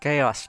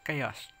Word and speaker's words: Chaos: Vừa ra Google ghi lại tên của ông đấy, chứ đọc Corrupted Chao là bị sai các bạn. Mà nó đọc là Chaos.